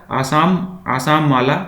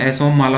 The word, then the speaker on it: असम माला: तो इसका आंसर हो जाएगा आसाम माला, ऑप्शन नंबर ए। एक्चुअली इसका प्रोनाउंसिएशन असम माला हो जाएगा, ऑप्शन नंबर ए इसका आंसर हो जाएगा।